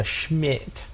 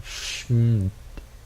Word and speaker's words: SHMiT: Oh yeah, which, by the way, the SHMiT stands for Super Heavy Moon Trip. With an I added in there so you could pronounce it instead of just going SHMiT.